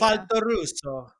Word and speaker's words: Faltorusso: Faltorusso.